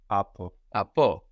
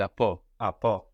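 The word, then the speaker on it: από: say from in greeko AO with the accent on the end AO good so we could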